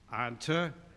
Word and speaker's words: Ontonagon: We had a hard time pronouncing that. And Bill says, no, that's simple. Ontonagon.